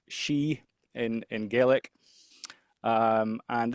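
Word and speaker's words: Sidhe: So that word CDA is actually pronounced she in in Gaelic.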